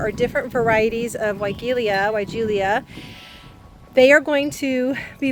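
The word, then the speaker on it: Weigela: time of year is wilia. Um I think that's how you say it. Some people might say it welia.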